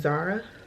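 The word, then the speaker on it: Zaura: The other one is Zara. Like Laura, Zara. Not spelled like the clothing company, but spelled Z-A-U-R-A. But we immediately dismissed that one.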